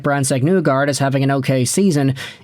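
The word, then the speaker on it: Brandsegg-Nygård: I can see them loving both Nygard. Okay, don't just say it like that. You have to say Brandsegg-Nygard.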